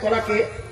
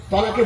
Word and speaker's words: তলাক: Direct তলাক শব্দ উচ্চারণ করে বলা, আমি তোমাকে তলাক দিলাম, তালাক নয়। মনে আছে তো আপনাদের? তালাক আর তলাক দুটো আলাদা। তলাক মানে পৃথক যাওয়া, আর তালাক মানে জুড়ে যাওয়া।